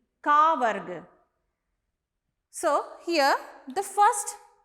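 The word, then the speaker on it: क: It is pronounced Ka, a short sound, Ka.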